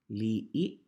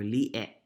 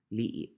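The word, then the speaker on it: li'e': And then for E, right, you have words like salapi, li'i, right? In our language, we don't say salape or li'e. We say salapi or li'i, right?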